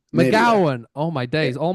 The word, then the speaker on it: McGowan: Am I pronouncing that right? McGowan, nearly there. McGowan.